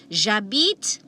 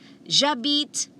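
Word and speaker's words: j'habite: kinabalu i will say jabit ah kota kinabalu jabit but remember hesh is always silent okay now let's move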